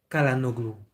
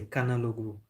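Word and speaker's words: Çalhanoğlu: There are a lot of things to Chanaloglu. I'm thinking about Chanaloglu. Like it's difficult to pronounce. It's pretty difficult to pronounce Chalanoglu. In French, you will say Kalanoglu. In French, you would say Kanaloglu.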